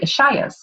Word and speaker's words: Ishaya: Ishaya? Yep, that's perfect. Yeah. Which simply means that she has committed her life to serving consciousness and humanity alongside an order of non-denominational monks known as the Ishayas.